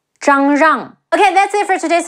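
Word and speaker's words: 张让: Ai, Cai, Bo Cai, Zhang Rang, Zhi Ang, Zhang, Zhe Ang, Rang, Zhang Rang.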